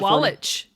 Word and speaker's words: William Sawalich: So, our guest is going to be William Sawalich. Did I I mess that up? Did I? William Sawalich. How do you pronounce it? Sawalich. That was good. You said it right the first time.